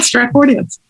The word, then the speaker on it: Stratfordians: Yeah, you said it right, Stratfordians. Some of the pushback you've gotten personally on this, but also why it's important that it is the Stratford Man.